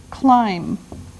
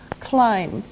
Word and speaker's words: climb: Now, the first verb is climb. Climb. Now, it doesn't sound like it looks. Now, if this letter, B, is silent, climb.